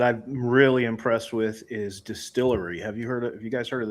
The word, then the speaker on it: DSTLRY: Now I'll tell you another publisher that I'm really impressed with is Distillery. Have you guys heard of them? No. DSTLRY. They spell it funky.